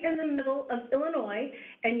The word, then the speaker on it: Illinois: in the middle of illinois and yes the s in illinois is silent so um we really have a passion we can't pronounce tabletops but we can say illinois if you have any